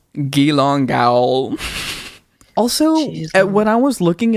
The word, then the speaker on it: Geelong Gaol: I need to note this gong jail is spelled g e e l o n g g a o l hold on I'm sorry can you say that one more time gong say that spell that out one more time for Me ge e e l o n g g a o l gilong gal also when I was